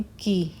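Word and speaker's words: chi: various test such as यह ची नहीं है इसको इसकी प्रोनाउंस है की क्या है की square test the most commonest test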